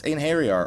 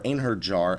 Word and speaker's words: Einherjar: So with that out of the way, the only advice I have is silence Einherjar, or Einherjar as it's spelled but not pronounced, because that was probably the biggest move that was wiping people all day.